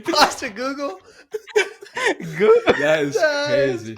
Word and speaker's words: Postecoglou: You interviewed Ange Postecoglou?